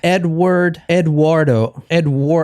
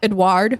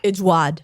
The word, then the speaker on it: Édouard: Tonight we're talking about him, Eduardo. I can't say his name. Eduardo. No, it's not Eduardo. It's Edward? Edward in America in English. But Edouard. He's French. Edouard. Edouard. Yeah, there you go.